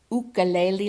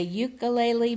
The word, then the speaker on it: ukulele: We played mahjong every day at sea, and I even took some ukulele lessons. I used to say ukulele, but in Hawaiian it's ukulele. I could still be saying it wrong.